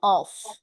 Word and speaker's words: off: আর পরেরটার pronunciation হচ্ছে অফ।